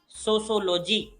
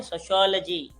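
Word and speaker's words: sociology: Note दे रहे हैं, सोशोलॉजी नहीं, इसको बोलते हैं सोशियोलॉजी। किस तरह से प्रोनाउंस करते हैं? सोशियोलॉजी, सोशियोलॉजी, तो ये इसका सही प्रोनाउंसिएशन रहेगा।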